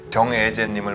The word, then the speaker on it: 정예재: 오늘은 법무사이시면서 애국계 네트워크 마케팅의 글로벌 리더이신 정애재님을 모시고 2019년 공정위 데이터를 가지고 재미난 뉴스다를 진행해 보겠습니다.